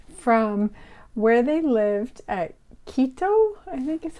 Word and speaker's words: Quito: So when he was around 5, his parents were taking him on a trip from where they lived at Quito, I think is how you pronounce it, Ecuador.